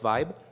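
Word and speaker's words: VBE: So our new metric um is called voting block entropy pronounced vibe.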